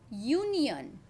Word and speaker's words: Union: before European next is Union Union it is also sound y the spelling begin with u but it sound Y and Y is a consonant sound that's why we are